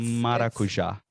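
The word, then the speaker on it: maracujá: Ooh, it's maracuja in Portuguese.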